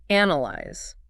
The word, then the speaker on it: analyze: Analyze. The stress falls heavily on the first syllable.